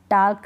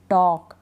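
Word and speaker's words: talk: काफ, हाफ, अब हाल्फ नहीं पढ़ेंगे, यॉल्क नहीं पढ़ेंगे, हाफ पढ़ेंगे, यॉक पढ़ेंगे, फोल्क नहीं फॉक, टाल्क नहीं टॉक, वॉल्क नहीं वॉक, चौक,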